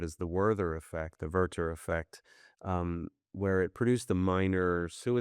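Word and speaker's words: Werther: I mean that it has an intensely emotional uh young protagonist by the name of Worther. Uh Verter I guess is the proper German pronunciation.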